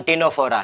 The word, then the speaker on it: Ctenophora: जो टिनो वर्ड है, ठीक है, इसमें सी है, ये साइलेंट रहेगा।